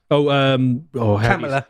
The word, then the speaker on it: Kamala: Kamala. Kamala. Yeah, you're supposed to say it like that.